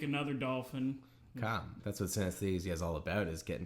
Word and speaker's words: synesthesia: It's synesthesia.